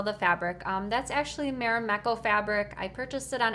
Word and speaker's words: Marimekko: do you sell the fabric um that's actually marameko fabric i purchased it on etsy um if you just do a search on etsy for marimekko it's spelled r-m-a-r-i-m-e-k-k-o i think that's the correct